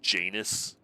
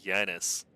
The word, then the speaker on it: Janus: Isn't it pronounced Janus? Like anus? I know. I'd rather call it like Janice.